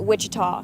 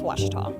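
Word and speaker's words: Ouachita: for wasita Baptist University back in Texas everybody pronounces it Witchita but really it's wash wash was how would you pronounce it was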